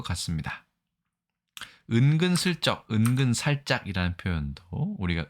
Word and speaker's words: 慇懃: 우리나라 은근, 중국어 인친, 일본어 인긴. 이거만 보아도 알 수 있겠지만 발음이 비슷할뿐만 아니라 같은 글자를 쓰고 있는 것을 알 수 있습니다.